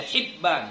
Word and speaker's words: Hibban: Abu Hatim Ibnu Hibban bikasril Hai ya ini bikasril Hai ini maksudnya cara membaca Hibban ya jadi dibaca hi hi hibb fiahihima pada kitab